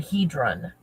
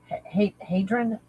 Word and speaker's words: Hadron: I keep hearing the word hedron. Hedron. Am I saying it right? Is that CERN? Hedron? Hadron?